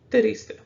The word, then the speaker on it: triste: It's a two-syllable word, so triste, 1 and 2. What do you think the accent is? I said the penultimate one, or the second to the last, right? So it's going to be on triste. So you're going to put more emphasis on that triste.